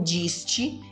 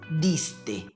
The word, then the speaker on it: diste: Letra D com som de D mesmo e letra T também com som de T mesmo. Não diste, e sim diste.